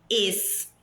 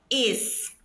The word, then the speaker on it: es: Olha a pronúncia, pessoal, não é es, es. A letra E em espanhol, ela é fechada, é E, não é é. Não existe essa fonética é. É sempre E.